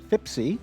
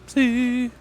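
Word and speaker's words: Fipse: It is Fipsy, Fipsy! not Fipsy. Oh, shit. I can see the nuance. The difference is there is no I before the E. So it's Fip, S-E, not Fip, S-I-E.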